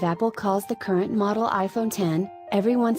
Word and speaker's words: iPhone X: And with its radical redesign, the iPhone X, pronounced iPhone 10, leapt two more numbers up the scale, leapfrogging 9 altogether.